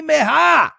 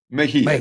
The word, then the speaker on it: Mejia: And our $2 handicapper at WagerTalk, Meha. I hope I said that right. He's got an NBA top play. I said that wrong? So fix it for me, Teddy. Mejia. It's not a hard name to pronounce.